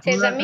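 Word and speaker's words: ses amis: প্লুরালে সেট আমি, হ্যাঁ সেজামি। প্লুরালটা সেজামি হ্যাঁ এসটা এখানে লিয়াজো হবে না কনসোনেন্ট ভাওয়াল থাকলে হ্যাঁ লিয়াজো হয় তাই না তাহলে সেজামি এখানে তো লিয়াজো হচ্ছে না সেজামি।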